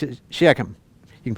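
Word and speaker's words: Shechem: some people pronounce this shikim uh the Hebrew way is like clear in your throat but it's closer to sheum than it is shikim so I pronounce it sheum you can pronounce any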